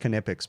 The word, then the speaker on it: Knipex: By the way, these are my most used Knipex tools, and it is pronounced Knipex, by the way, guys.